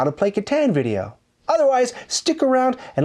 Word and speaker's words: Catan: an expansion for katan which is correctly pronounced katan but i'm on a diet